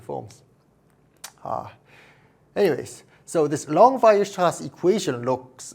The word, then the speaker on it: Weierstrass: Here, the word Weierstrass is a German word, so in German you pronounce W as the V sound in English, and this R sound